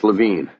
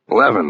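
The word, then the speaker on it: Levin: He had pronounced the name here and on the phone earlier as Lavine. I said the name rhymed with heaven. Leaven, then he said, getting it right.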